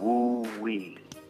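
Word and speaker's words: wu wei: What pops out your, remember I said the name, the dynamic that's spelled W-U-W-E-I is called woo-wee.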